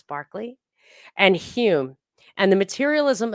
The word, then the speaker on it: Berkeley: From him stem both the idealism of Berkeley, which they pronounce Barclay, and Hume, and the materialism of such philosophers as Lamettrie and Holbach.